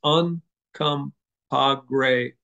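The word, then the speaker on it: Uncompahgre: really phonetic you you look at it you pronounce it it's uncom gray and it means Red Lake or Redwater spring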